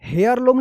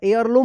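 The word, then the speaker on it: heirloom: लम यहां पे देखिए हेयर लम नहीं होगा एयर लम होगा एयर लम एयर लम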